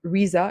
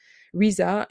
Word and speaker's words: RZA: comment ça se prononce?» En fait, ça se prononce comme la chanteuse SZA. Ça se prononce Riza et donc du coup, SZA pour la chanteuse. Riza et voilà.